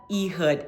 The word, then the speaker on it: Ehud: hope you guessed it it is the judge eood and his name is spelled e h u d um and his